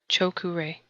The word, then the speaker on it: Choku-rei: The first Reiki symbol, Choku-rei. The first symbol is the Choku-rei, pronounced Cho-ku-rei, and means placing all the power of the universe here.